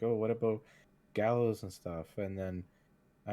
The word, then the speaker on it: GaLos: see, I'm pretty sure we did the spelling first, and then I was like, but we'll pronounce it like gallows because we're playing on it Mm.